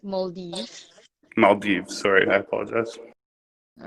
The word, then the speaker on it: Maldives: on the pronunciation. It's Maldives.